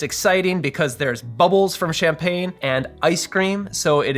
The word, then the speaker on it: champagne: how to pronounce champagne in French. Champagne. Champagne.